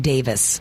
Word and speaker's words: Davis: And by the way, he does pronounce his name Davis, not Davies.